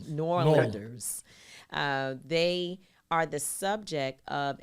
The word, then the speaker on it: New Orleans: And both of these two beautiful Black New Orleans, I guess, I'm sure they'll correct me, because people from New Orleans, you got to say it right. New Orleans.